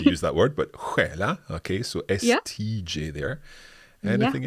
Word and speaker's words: stjäla: So hopefully we won't have to use that word, but stjäla. Okay, so STJ there. Anything else? We also can spell it with SK.